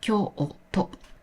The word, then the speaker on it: きょうと: The u after the vowel o is pronounced as o. So Kyoto is actually pronounced as Kyo-o-to.